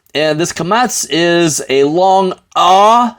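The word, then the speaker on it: קָמַץ: commets okay mats this is known as a kamats and this kamats is a long ah sound so schwa I'm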